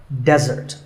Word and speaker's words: desert: of a meal and it should not be confused with desert here the stress is on the first syllable which is dead desert now i said that